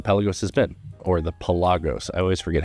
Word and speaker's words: Pelagos: has been or the pagos I always forget how to say it we all say pelagos no one calls it pagos I don't care if